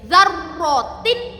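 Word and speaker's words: ذَرَّةٍ: Za pakai zal nggih, lidahnya jangan sampai keluar. Zarro, ronya bertasydid. Zarrotin.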